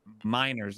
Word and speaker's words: Gmeiners: So joining us tonight, we have Mr. Gmeiners, is how it's pronounced.